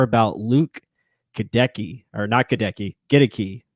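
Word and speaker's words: Goedeke: to say it uh get a key is the right way to say it he even said it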